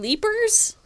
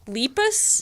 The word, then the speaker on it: Lepus: you saying are you saying leapers no lepus yeah how do you spell that LEP us Lepus women Janet Leigh I